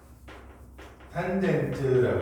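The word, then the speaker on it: tangent: 그래서 밑변분의 높이는 TANA 이렇게 놓고요. 읽으실 때는 탄젠트라고 읽으시면 돼요. 탄젠트 A 이렇게 읽으시면 돼요.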